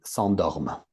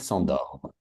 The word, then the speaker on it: s'endorment: Ils s'endorment. Mhm. So ENT doesn't exist phonetically. Just finish it with an M. Ils s'endorment.